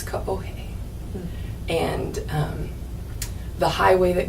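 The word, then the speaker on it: Kaohe: streets like our neighborhood was k-a-o-h-e Ranch we pronounced it kahoe but it's kahohe and um the highway that goes around the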